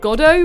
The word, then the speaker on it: Godot: right trials and tribulations I later found out it's pronounced God oh but I don't care he's my boyfriend and I'll call him Godot though I don't delve